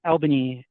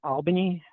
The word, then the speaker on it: Albany: a project in um elban Georgia and Albany I pronounce it like a northerner but it was one